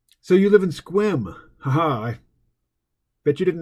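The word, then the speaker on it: Sequim: So you live in Squim. Haha, I bet you didn't know I knew how to pronounce Squim, did you?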